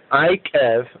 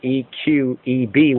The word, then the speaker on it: Eikev: that, EIKEV like that, or EQEB, which is probably the better sense, the E pronounced as an I sound, or EIKEV, the Hebrew for if you follow.